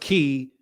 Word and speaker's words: Kai: oh yeah ke oh Kai is pronounced key and cool bring on